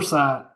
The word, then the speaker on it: Inmarsat: I think you were trying to pronounce Inmarsat. Is that the one? Inmarsat, yes, Yeah.